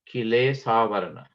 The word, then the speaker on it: Kilesavarana: And the third and last term is Kilesavarana. That's K-I-L-E-S-A-V-A-R-A-N-A, Kilesavarana.